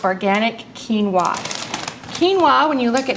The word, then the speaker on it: quinoa: super grain so I like to call it super quinoa which will help you remember super Keen that'll stick in your brain forever quinoa Cooks just like